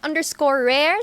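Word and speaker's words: Raire: You can follow me at _rare, spelled as R-A-I-R-E. Ayan po. Hindi ba mahirapan sila doon? Parang nahirapan ako doon na R-A-I-R-E. Rare. Rare. Opo, ayun nga po yung rare. So parang pronunciation. rare lang siya.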